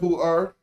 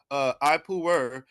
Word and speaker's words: Ipuwer: Ipuwer.